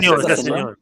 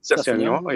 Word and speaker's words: Sessegnon: He bring on I don't know how to pronounce his name. Sessegnon. Sessegnon, yeah.